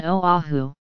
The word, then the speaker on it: Oahu: For examples of the Okina, consider the Hawaiian words Hawaii and Oahu. In Hawaiian, these words can be pronounced and can be written with an Okina where the glottal stop is pronounced.